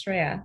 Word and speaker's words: Shreya: So Sharia, how did I do first off with the pronunciation of your name? That was good, actually. That was absolutely accurate. It's Sharia, so you did good.